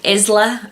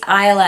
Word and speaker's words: Isla: someone as I've heard someone use the term Isla and I'd be like no no it's ila and it's such abuses